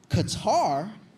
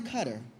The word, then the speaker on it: Qatar: Qatar and I said Qatar and he goes actually it's pronounced cutter and I said I